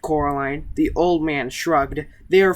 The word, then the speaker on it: Coraline: "No," said Coraline. The old man shrugged. "They're funny, the mice. They get things wrong. They get your name wrong, you know. They kept saying Coraline, not Caroline. Not Caroline at all."